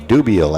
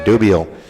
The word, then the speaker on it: Dubiel: will hit decker spot a dubiel actually let me correct the pronunciation there dubio coming to the plate